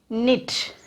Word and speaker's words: knit: If K is followed by N at the beginning of a word, then K is not said. It is silent. See this children. I'll give you some examples. K-N-I-T.